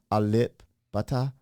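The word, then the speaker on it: Alip Ba Ta: It's funny because his name, if we're pronouncing it right, Alip, butter. Pronounce it fine. It's like my butter, friend.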